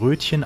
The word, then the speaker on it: Roetgen: Ja, auch wenn es Rötgen geschrieben wird, spricht man es hier doch als Rötchen aus.